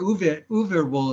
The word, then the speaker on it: Uwe Boll: Uwe Boll. Uwe Boll. Or Uwe Boll is how he pronounces it.